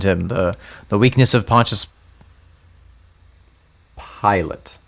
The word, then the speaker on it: Pilate: Pilate. Like a pilot. Like I'm flying Jesus to not the s- cross. It's not spelled the same.